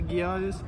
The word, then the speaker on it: Geodis: So we were here at soft G. It's a soft G. That's how they say it on TV.